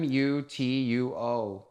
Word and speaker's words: Mutuo: Mu Tuo. Okay. So it's spelled That's Italian.